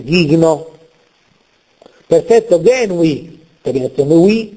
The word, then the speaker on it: gigno: scompare non è pronunciata gigno non Gheno ma ghigno perfetto genui terminazione We